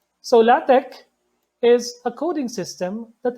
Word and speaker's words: LaTeX: it is pronounced as la tech some people would pronounce it ATS Latics which is fine but you don't pronounce it as latex so la tech is a coding system